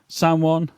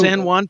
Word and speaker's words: San Juan: So um you know it's going to be in uh Sanan Puerto Rico. San Juan Puerto Rico.